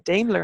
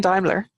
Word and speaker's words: Daimler: your name wrong um I've been saying dler instead of Daimler so apologies for that